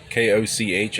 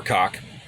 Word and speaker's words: Koch: K-O-C-H, actually pronounced Koch or Cock.